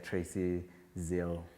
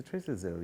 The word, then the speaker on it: Tracy Zille: There was an account created on Twitter called Tracy Zille. I think it's a Tracy Zille, yeah, if I'm not mistaken. That's how it's pronounced, Tracy Zille.